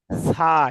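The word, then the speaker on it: ث: তো দেখেন, জিহ্বার আগায় একটু কামড় দিয়ে পড়তে হবে, হালকা জিহ্বার আগা দেখা যাবে, দেখেন।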